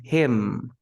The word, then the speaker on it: him: We have the him. It's not Him, the end. We don't pronounce the end. We say him, and that's it.